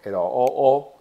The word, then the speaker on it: 鲁: 个鲁的音它就念作 LOO，但是上面它的音标